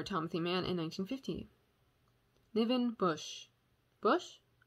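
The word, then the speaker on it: Busch: livin bush bush it's b-u-s-c-h but i feel like that's usually pronounced bush it's barbara stanwick and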